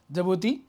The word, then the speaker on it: Djibouti: along with the Djibouti, though it is starting with the D, but it is pronounced as Djibouti.